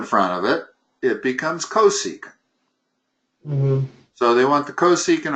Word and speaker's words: cosecant: That's pronounced cosecant.